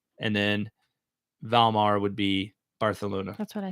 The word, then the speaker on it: Barcelona: just wanted to because i just learned the correct way to pronounce it the other day because we went to a place called barcelona yes and i think they and i think uh what i've learned since is that a lot of places in uh maybe it's just that particular region of spain but that's how they pronounce their c's and their words that is what